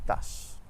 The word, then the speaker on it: tache: In English, the CH makes a ch sound, but in French it's always sh, like in the word bush or shingle. And in French we have champion et tache.